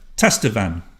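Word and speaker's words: tastevin: Tester van. And that is how you say it, because I looked it up to be absolutely sure.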